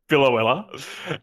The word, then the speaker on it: Biloela: Biloela.